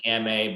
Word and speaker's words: Gamay: of this test just think ama beaujolais it rhymes i should have invited